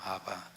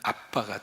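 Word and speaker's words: Abba: 아바. 이 아바라고 하는 말을 영어로 표시하면 A, B, B, A예요. 그것을 발음 나는 식으로 표기하면 아빠가 되는 거예요.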